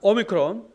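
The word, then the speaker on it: όμικρον: 발음 나옵니다 좋아요 그다음에 오미크론 난 오 발음 오 긴 오가 아니라 짧은 오입니다 어 피피는 프 프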